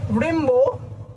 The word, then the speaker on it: Rimbaud: বোঝা গেল তাহলে আর্থার রেম্বো আর্থার রেম্বো ডিটা উচ্চারণ হবে না এবার অনেকে রয়েছে বেশ